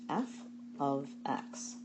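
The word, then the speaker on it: f(x): say y equals 2x plus 3 this is pronounced f of X it's another way of writing around Y the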